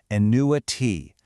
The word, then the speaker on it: annuity: annuity. Notice how it sounds completely different from annual. It sounds like it starts with a new, but think about the meaning.